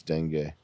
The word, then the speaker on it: dengue: How do you type in how to pronounce dengue? You can get severe dengue. It's like Bengue. Dengue, for real.